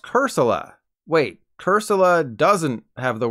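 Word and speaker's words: Cursola: is pronounced corsola and its evolved form is pronounced cursilla wait cursilla doesn't have the word soul in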